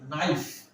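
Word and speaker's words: knife: সুরি এখানে আপনার দেখুন এই কে টা আপনার এখানে সাইলেন্ট ভাবে এ নাই আই এটি উচ্চারণ নাইফ নাইফ এখানে দেখো আমি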